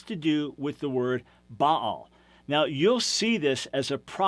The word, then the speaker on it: Baal: do with the word Baal. Now, you'll see this as a proper name, B-A-A-L. You normally pronounce it Baal, and you know him